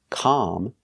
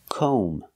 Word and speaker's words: comb: o sound com and remember the B is silent don't pronounce the B comb so comb is the